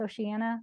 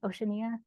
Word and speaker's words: Oceania: Did we decide how to pronounce Oceania? Oceania? Either. Okay, Oceania, we know what we're talking about.